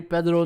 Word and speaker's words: Pedro: in the house, Rui Pedro Nogueira. Or as my niece said, it's not Pedro, Uncle Ron, it's Pedro. If you're Portuguese, it's not Pedro, it's Pedro.